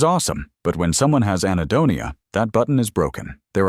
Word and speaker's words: anhedonia: Anhedonia.